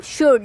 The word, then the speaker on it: should: अब हम देखते हैं शुड, SHOULD, इसको प्रोनाउंस करते हैं हम शुड, लेकिन स्पेलिंग इसकी लिखी जाती है SHOULD।